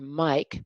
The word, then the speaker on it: Mike: The I in the word Mike becomes a long I when it ends in E.